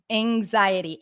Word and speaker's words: anxiety: anxiety anxiety in in it's as in cat in the dictionary but before NG which is the next sound it's often pronounced as a in American English anxiety an anxiety okay we don't have an X here it's not anxiety anx xiety so it's like Ang if I'm really simplifying it anxiety this is